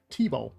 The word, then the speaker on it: Theobald: I think Theobald is pronounced T-Bow. T-Bow.